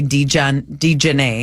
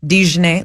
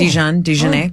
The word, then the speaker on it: Dejanay: They landed on a hard J, Dejanay. Oh, that's correct, isn't it? No, it's a ZH, Dejanay, like mustard. Oh. Dejanay.